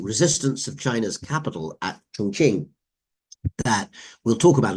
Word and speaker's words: Chongqing: They temporarily moved 800 miles up the Yangtze River to the southwestern city of Chongqing, known in the West at the time as Chungking, but Chongqing is the more accurate Chinese pronunciation, and that would be